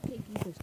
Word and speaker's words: King Christi: By the way, guys, I know it is called C King Christi, but you pronounce it King Christi.